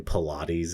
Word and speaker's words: Paulides: So that's David Paulides. I've heard people pronounce his last name Pilates as well. It's kind of how it's spelled.